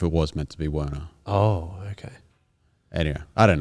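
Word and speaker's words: Wernej: spelled wrong yeah um so we pronounce it Werner there's probably a more correct European membership okay Verna I don't know um but yeah it has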